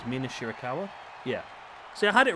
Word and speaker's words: Mina Shirakawa: And now a rollover pin attempt there by Mina I told you I'm going to butcher these names. Mina Shirakawa?